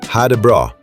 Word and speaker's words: ha det bra: Pronounced ha det bra.